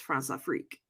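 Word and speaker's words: Françafrique: close relations with him as part of his France afrique yes it's actually how you pronounce it I actually looked it up it's Franza freak which is just basically a combination of France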